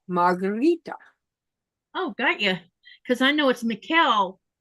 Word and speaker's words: Margherita: But because people couldn't pronounce it correctly and they were calling me Margaret. My name is not Margaret. And how do you say it in Italy? It's Margherita.